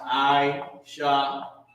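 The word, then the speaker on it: עשה: y'all that's looking online it's pronounced I shot i s h a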